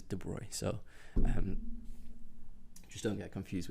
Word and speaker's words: de Broglie: People tend to say de Broglie, but the way it should be pronounced is de Broglie.